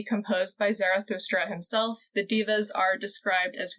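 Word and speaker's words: daeva: It is pronounced diva, so sorry, supernatural. I'm glad that you looked it up. I'm just going to say Deva because that's how Sam and Dean say it, but I appreciate that you looked up the correct pronunciation.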